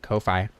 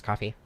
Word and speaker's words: Ko-fi: I know a lot of people pronounce it Ko-Fi, but yeah, again, I always just kind of assumed it was coffee.